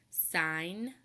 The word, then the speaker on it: sign: G blended together and sign and do you hear the difference in the word song we hear that good sound very clearly in sign the G is totally silent and finally D then